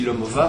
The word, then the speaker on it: Lomová: entre lucyom et Lucy lomova moi je le prononce à la française pas comme fou parce